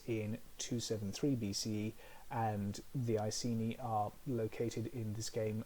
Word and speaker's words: Iceni: Our first case study concerns the Iceni, or Iceni, if you want to be very proper with your Latin pronunciation.